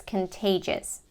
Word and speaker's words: contagious: with the pronunciation pages the stress is in the second syllable we have the K